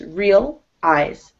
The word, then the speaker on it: realize: Yeah, it's actually two syllables, not three. It's not realize. It's real eyes.